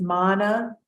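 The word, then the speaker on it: māna: meaning well I believe Mana with a long a as in Fetter has a different connotation so Mana with short a versus Moana right even when we talk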